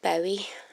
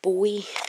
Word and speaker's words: Bowie: So basically, David Bowie. I think I don't pronounce it properly, but a lot of people don't. David Bowie, apparently is how you really say it.